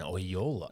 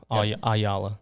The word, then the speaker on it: Oyola: rolls off the T A lot of people have trouble with it at first you see it on paper you're like how do you say that it's two o's I thought it was um when I first met you I thought it was just spelled different all my life aala yep but I got